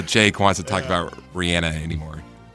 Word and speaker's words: Rihanna: Happy birthday today to Rihanna. Oh, Rihanna. Rihanna. That's her. That's how you pronounce her name. Rihanna.